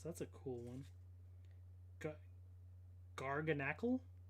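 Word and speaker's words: Garganacl: a cool one okay gargan Ackle I know it's supposed to be like NaCl like sodium or whatever but just in terms of how you pronounce it not garganak cool looking Pokemon though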